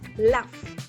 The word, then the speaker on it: laugh: La GH en este caso suena como una F. Laugh, ¿listo?